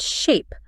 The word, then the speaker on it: sheep: In Chaucer's time, before the shift really got going, you didn't say sheep. What did you say? You said shape, with a long, pure sound.